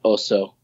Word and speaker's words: Ozo: The next morning, woke up and thought Ozo with a Z so that the people could pronounce it. And it still remains this kind of elusive word that doesn't really tie to anything. So yeah, the next day I was like, Ozo, that's what it is. Ozo. O-Z-O.